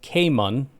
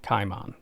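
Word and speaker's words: Kaimon: Kaiman Rucker is actually pronounced Cayman. Cayman. Cayman. Cayman. Just Cayman Rucker, not Kimon.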